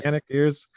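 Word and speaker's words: Janick Gers: How you pronounce it? Yannick Gers.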